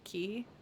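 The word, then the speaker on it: cay: Hall key which is usually spelled c-a-y but pronounced key or or q u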